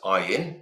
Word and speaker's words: Ayin: or if you're going a n is I in is the pronunciation um uh yeah I've